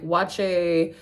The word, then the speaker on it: Waakye: The acheke is a new one, but like wache is up there. That is spelled Waakye.